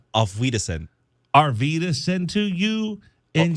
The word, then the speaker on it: Auf Wiedersehen: Wait, hold on. How did you pronounce that? Our Wiedersehen? Yeah. How do you say it? Auf Wiedersehen.